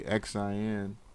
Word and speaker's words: Xin: it's a it's a Chinese company called Shing doing real estate Shing winglet real estate you don't have to spell that one for me yeah yeah I know it's always is X I in Y you a in real estate so this is literally xin the ticker is literally